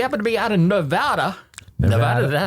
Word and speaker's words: Nevada: But if you happen to be out in Nevada, is that how it's pronounced, Nevada. Daniel? Nevada, okay.